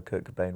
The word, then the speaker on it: Kurt Cobain: Good time in my life, and also Kurt Cobain rhymes with Frasier Crane, and it's too irresistible.